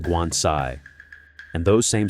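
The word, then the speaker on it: 棺材: In Chinese, coffin is pronounced guansai.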